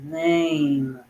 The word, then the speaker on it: name: you hear it uh silent means you only write it the letter e on this word but you don't hear it when the word is said or when the word is pronounced nah aim um name